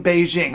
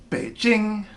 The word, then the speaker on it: Beijing: no no no no the capital of China has never been peeking and it has never been Beijing okay we've been saying at first at speaking and then as Beijing but those are both attempts at representing one and the same word Beijing got that Beijing okay